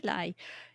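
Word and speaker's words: Ley: I would say Lay, but I don't know. Okay. Tony Lay. L-E-Y. That's yeah.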